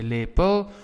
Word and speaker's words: lepel: However, listen to my pronunciation, lepel, unstressed. However, we say toestel, right? Toestel. Now in toestellen, which is devices, the last EL is stressed.